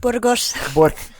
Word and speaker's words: Burgos: Say it right, Burgos.